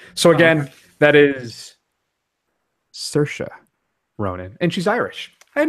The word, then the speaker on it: Saoirse Ronan: we should clarify that and then finally it's pronounced Saoirse Ronan oh okay she was on a particularly strong